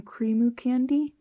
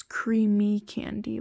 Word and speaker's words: Creamy Candy: the tiny stickers from Creamu Candy, and not Creamu Candy. I got their name wrong before in my past videos. It's Creamy Candy, like with 2 eyes.